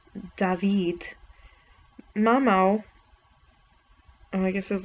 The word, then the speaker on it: David: One of the two guitar players, David, pronounced David, Mamau, oh, I guess his last name is